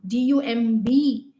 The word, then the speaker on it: dumb: not dumb i was dumb d-u-m-b the b is again silent over here dumb or we say